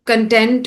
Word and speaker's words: content: in terms of pronunciation, saying content instead of content. So the meaning of the word actually changes with pronunciation. Content means happy and satisfied. Content is the stuff that we watch.